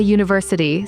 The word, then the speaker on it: university: A cat, a dog, a university sounds like you.